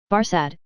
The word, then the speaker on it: Barsad: Barsad, said Defarge, making it French by pronunciation.